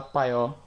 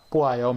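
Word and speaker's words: 봐요: por que se fala paió? Não tem explicação. Na verdade, Antigamente se pronunciava poayo mesmo, mas com o passar do tempo os coreanos passaram a pronunciar o verbo poayo como paió.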